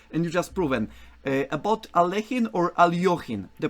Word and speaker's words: Alekhine: Now, an LE in Russian is kind of a yo sound, like in Spanish, like the LLs is a Y. So it would be Alekhine, that kind of thing.